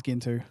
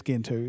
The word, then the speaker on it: Gentoo: The correct pronunciation is Gentoo.